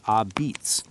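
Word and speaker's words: apizza: New Haven, Connecticut is famous for its unique a pizza, pronounced a beats, with its thin crust and distinctive char.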